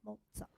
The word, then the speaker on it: Mozart: So yeah, so German, Austrian, for those who aren't familiar, the Z, think of it when you pronounce it as being a TZ, so Mozart.